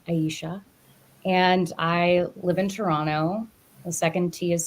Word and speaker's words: Toronto: too am based in Toronto the t is silent and I love raccoons raccoons why I don't I really don't I just I think the most Toronto thing that I could